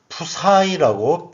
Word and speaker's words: psi: 전속이라는 것은 전하에서 나오는 전기력선의 다발 그리고 푸사이라고 읽습니다. PSI라고 쓰고요.